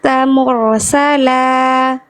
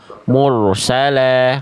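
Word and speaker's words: مُرْسَلًا: Cuman hati-hati di huruf ro sukun. Memang huruf ro itu getarannya tidak boleh berlebihan, tapi jangan sampai juga getarannya jadi samar. Contoh mursalah. Nah, itu getaran yang tadi dibaca oleh Kak Is. Kurang jelas, kurang mantap, kurang tegas. Jadi jelaskan lagi. Mursala mur jangan sampai cuman mur ya.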